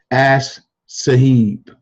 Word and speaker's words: Ash Sahib: This gentleman right here, his name is Ash Sahib, and his name is spelled ASH space SAHIB. Ash Sahib.